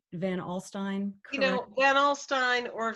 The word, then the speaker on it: Van Alstyne: You know, Van Alstyne or Van Alstyne. I say Van Alstyne, but Okay. people in upstate New York pronounce it in different ways.